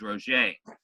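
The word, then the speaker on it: Roget: one written by a man named Peter mark Rocha and that's how you spell it pronounced that is Roche ROG et he was a British physician and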